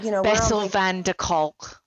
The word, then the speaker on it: van der Kolk: So, Bessel van der Kolk. I hope I've said that right. Bessel van der Kolk. Kolk. Yeah, Kolk. Kolk. I'm terrible at pronunciation.